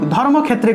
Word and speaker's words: ধর্মক্ষেত্রে: এই যে ধর্মক্ষেত্রে থাকলে উচ্চারণটা হবে ধর্মক্ষেত্রে, ধর্মক্ষেত্রে, অর্থাৎ এই ক্ষয়টা এখানে ভেঙে গেছে, ঠিক আছে? ক যুগ মূর্ধন্যস্য রূপে ভেঙে গেছে। তা আমরা এভাবেই উচ্চারণ করব, অর্থাৎ যে জায়গাতে আমরা ক্ষয় পাব সেই জায়গাতে আমরা সংস্কৃত ক্ষ উচ্চারণ করব, ঠিক আছে?